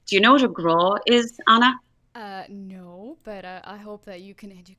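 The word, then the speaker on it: grá: Do you know what a graw is, Anna? No, but I hope that you can educate me on that. So, graw is the Irish word for love. Oh, I love it. How do you spell that?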